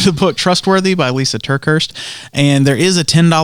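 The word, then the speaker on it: TerKeurst: out here how do you say that name turkhurst turkhurst yeah Lisa turkeys yeah I didn't know who wrote that yeah so they're going to look at the book trustworthy by Lisa turkhurst and there is a 10 book fee so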